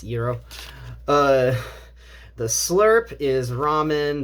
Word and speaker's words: gyro: know the Euro um if you wanted to know how gyro was pronounced it's Euro uh the slurp is